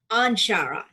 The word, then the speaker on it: Anshara: am thrilled and uh your last name is ashara is that how i pronounce it i'm sure i'm shara onshara onshore it's the name i picked up after